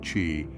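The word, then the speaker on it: qi: is based on the concept of chi pronounced Chi An energy that flows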